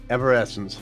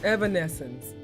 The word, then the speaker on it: Evanescence: You're missing certain consonants. You're saying evanescence. It's evanescence. Evanescence.